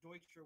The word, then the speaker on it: Deutscher: I'm not sure if the name has been anglicized or not, but Deutscher would be how you pronounce it in German.